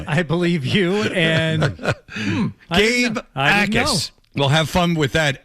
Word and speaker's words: Jacas: We weren't big on Gabe Jacas. Akis. Of course. J is silent.